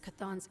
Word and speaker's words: Cathan: They also knew the signs of Cathan's influence, and Shaw's... Oh, it's Cathan. That's how it's pronounced.